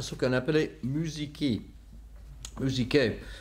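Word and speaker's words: μουσική: Musiké. Bon, c'est prononciation, comme on dit, le grec moderne. Musiké.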